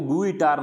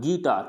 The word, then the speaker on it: guitar: फिर गिटार, आपने बहुत बार ये वर्ड सुना होगा, GUITAR, तो इसको गुइटार नहीं बोलना है, गिटार, क्या बोलना है, गिटार।